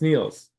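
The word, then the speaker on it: Niels: spell my name wrong they call me Nils even though they know it's Neils happens to all of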